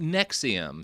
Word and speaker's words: NXIVM: Nexium. So, not the heartburn medication.